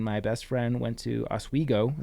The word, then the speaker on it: Oswego: Practically lived in Bear Mountain, and my best friend went to Oswego.